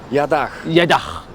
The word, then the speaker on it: Jadach: Jadach.